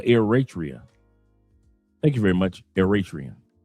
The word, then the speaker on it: Eritrea: He said he's pronounced Ratria or Eratria.